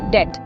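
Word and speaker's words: debt: 2 डेट, यहाँ B silent है।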